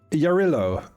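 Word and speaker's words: Jarilo: It is spelled with a J and I was like, I didn't know that that one was said with a Y over there.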